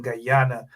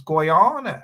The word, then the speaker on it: Guyana: to talk tell me that I do not pronounce the name properly and that I should be saying Guyana and not Guana and all manner of things. You know, it is what it is though, right? It's Guana.